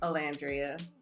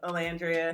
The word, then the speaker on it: Olandria: Olandria. Yes, Olandria.